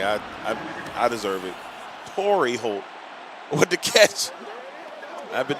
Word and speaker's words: Torrey Holt: That's Terry Holt. Torrey Holt. Jesus Christ, the way I've been saying the man name wrong the whole game.